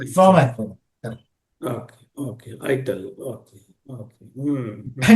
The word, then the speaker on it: ITIL: n years back they they removed this acronym and now it l is a word and that's why you know they stop pronouncing it as it now they called it as called it as ital it okay it